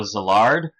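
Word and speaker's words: Szilard: she claims to be the granddaughter of Leo zillard who's a physicist who knew Albert Einstein and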